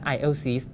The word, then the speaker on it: aisle: ทาง เดิน ที่ ได้ ที่ ติด ทาง The aisles นะ ครับ ขณะ ที่ ถ้า เป็น ที่ นั่ง